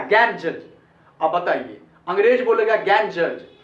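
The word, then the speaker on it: Ganges: अपने लोग तो इसको पढ़ेंगे गंगेश, लेकिन अंग्रेज लोग इसको गंगेश भी नहीं पढ़ा, इसका प्रोनाउंसिएशन भी चेंज करके रख दिया। और वो इसको कहता है, 2 साउंड इसका बनाया वो लोग, इसको पढ़ेंगे गैंजज, गैंजज, और या इसको पढ़ेंगे गैंजीज, गैंजीज, या तो गैंजीज बोलिए या गैंजज।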